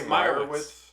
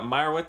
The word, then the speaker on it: Meyerowitz: Well, I heard them pronounce it Meyerowitz. Didn't they say Meyerowitz?